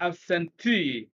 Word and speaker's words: absentee: placed rule number eight words that end in ee three syllables or more especially nouns with e is that the long e sound are stressed on the first syllable from the end examples are absentee detainee nominee report t divorcee and so on and so forth